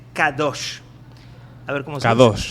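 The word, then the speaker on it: קדוש: Normalmente la palabra santo en hebreo se dice kadosh.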